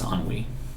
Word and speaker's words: ennui: I don't know how to pronounce that word. I think it's ennui. It is. But it sounds weird in my mouth.